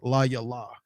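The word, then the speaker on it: לַיְלָה: you know the pronunciation, that ha at the end tells you that no matter how you see it, it's going to be pronounced la yala.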